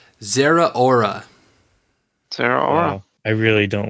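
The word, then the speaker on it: Zeraora: much come back okay so according to the Wikipedia of Pokemon name pronunciations it is Zehra aura Sara I really don't like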